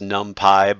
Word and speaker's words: NumPy: It's a little more complicated, this ND array out of NumPy, which is actually pronounced NumPy by the computer nerds.